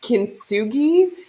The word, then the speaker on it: kintsugi: together with gold called i might not pronounce it correctly in my mouth it's pronounced kintsugi i'm sure that there might be a different way maybe in another part of the world the proper way of saying it but it's essentially using